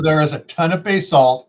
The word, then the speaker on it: basalt: you know around here around here in idaho it's all pronounced basalt and they take offense if you pronounce it basalt no it's spelled b-a-s-a-l-t bay salt and they get really